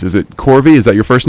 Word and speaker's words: Korvi: right I'm the worst when it comes to pronouncing names is it corvy is that your first name yes and then